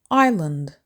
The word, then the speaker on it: island: Don't say island, say island. Island. 2 syllables with the stress on the first syllable. They live on a small island. The S is silent.